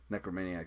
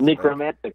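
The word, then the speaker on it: Nekromantix: He's like, "Well, you know, he's actually a stand-up bassist from the Necromaniacs." Necromantics, I think. Necromantics. Yeah, I was, like, saying it wrong.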